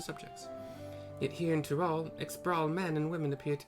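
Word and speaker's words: Xbr'aal: As you can probably tell, the figure depicted here is of the Ixbrawl like me, the lion people. For decades, the Ixbrawl, Brawl, however you want to pronounce X, Bravo, R, apostrophe, A-A-L.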